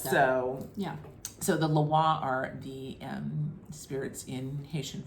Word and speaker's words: lwa: It is alternatively spelled LWA and LOA, pronounced Loa. Because the Haitian Creole patois is more phonetic and auditory than it is specific ways of spelling things.